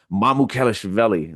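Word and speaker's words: Mamukelashvili: Mamukelshvili.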